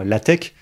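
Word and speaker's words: LaTeX: fond alors ça attention ça se prononce bien l tech et c'est un logiciel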